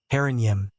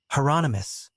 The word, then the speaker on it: Hieronymus: Herrenyim. Is that? Hieronymus, Bosch said. Rhymes with anonymous.